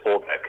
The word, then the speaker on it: Aubeck: ¿Obeck? Sí, Obeck.